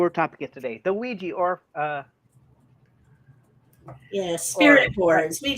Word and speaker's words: Ouija: By that logic, it should be roughly pronounced as oui ja.